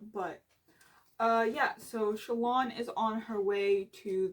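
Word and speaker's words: Shallan: So Shalon, not Shalon, Shalon. Every time someone says it as Shalon, I think of the word shallot. I don't know, it's random, but anyways.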